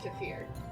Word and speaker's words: kefir: it's a yogurt yeah just pronounced kefir sure okay that's fine the yogurt is pronounced kefir I didn't know that